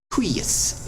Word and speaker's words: huius: And then last off, UI is rare, but huius, it's like gooey. Huius, but even this, it sounds like a short U and then a long I.